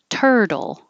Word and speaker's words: turtle: Turtle. Looks like UR, looks like a T, but it's actually ER and a D.